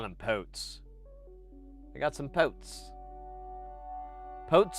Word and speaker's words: pot: that for some reason people pronounce pots even though it's not a it's a pot. It's a long O, not a not a short one.